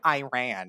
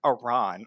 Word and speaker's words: Iran: Whatever the Some actually it's pronounced Iran. Let me address that one real quick because I seen some comments like that. It's not Iran. It's Iran and then they adjust